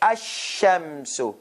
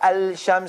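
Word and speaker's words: الشمس: alarm sound no sound lam is dissipate asham not al-sham so wrong asham so the lamb sound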